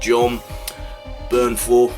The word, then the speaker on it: Jon Bernthal: John Bernthal, it's the first time I pronounced it right.